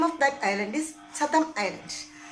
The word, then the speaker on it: Chatham: Name of that island is Chatham Island. Look at the spelling: Chatham. Chatham Island. Island deeper. Chatham, not Chatham. Chatham Island. Okay. Then pronounce it Chatham.